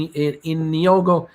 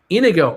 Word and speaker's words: Inigo: uh my name is my name is in in yoga montoya you have killed my father prepare to die how do you say that first name inigo my name is inigo montoya you you killed